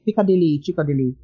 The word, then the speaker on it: Chikodili: I give people the mnemonic device of Chikodili, so that tends to work.